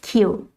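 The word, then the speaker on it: queue: of all the words you only pronounce it as q actually it's q q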